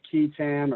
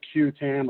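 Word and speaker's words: qui tam: Act is what is known as key Tam or q10 or Queen Tom and several pronunciations but however you prefer to say it it's a private action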